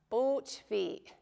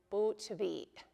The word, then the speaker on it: bootvi: So bootvi, bootvi. You might not always hear that, but if you're pronouncing carefully, there should be that little catch right at the end, bootvi.